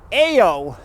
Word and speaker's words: Io: it is not pronounced I know it is pronounced ayo and it is the third moon of Jupiter